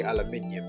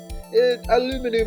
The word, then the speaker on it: aluminium: that's why as well British people say aluminium so I've grown up to say aluminium aluminum and aluminium are both the same thing but yeah just different pronunciations and I was brought